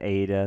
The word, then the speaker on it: eta: Okay, so nu is pronounced like the English N, and you have to watch this because the vowel eta looks like an N, but it's a vowel pronounced A.